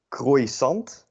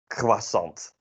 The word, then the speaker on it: croissant: in the dutch way we definitely also not pronounce it in a french way so in french it would be something like part of my friends croissant or something uh if you were to pronounce it fanatically dutch you would say croissant which is not what we say but in the end it ends up being something in between something like a croissant this real butchery of